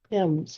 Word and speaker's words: Timms: Looks like Thames, but Timms.